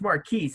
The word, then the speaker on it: Marquise: in marquis we're very it's marquise right yeah you got it right boss all right make